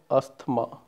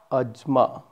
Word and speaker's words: asthma: It's not asthma. It is ajma. It's pronounced as ajma.